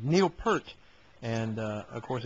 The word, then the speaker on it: Peart: guys were saying Neil Peart, and of course Eddie Trump was saying it's Peart. You keep saying it wrong.